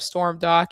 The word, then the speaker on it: Stormdok: I always say it's like storm and then dock like the boat dock but without the sea.